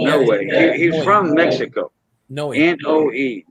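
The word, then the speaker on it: Noé: name no way uh n o o e but they pronounced it in no way he's from Mexico no n-o-e no way and uh his wife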